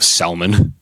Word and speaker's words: salmon: death through their Omega-3s you can't look me in the eyes and mispronounce salmon I know it's there's an L day how do you say a salmonella how do you say salmon Rusty Salman Rusty touche